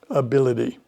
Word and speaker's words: ability: So anytime you see ity at the end of a word, it is likely to be pronounced id, ability.